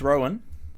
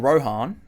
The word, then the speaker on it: Rohan: And thanks to Coach Rowan, or Rohan, as he likes to pronounce it, for reminding me why I didn't touch on coins like this.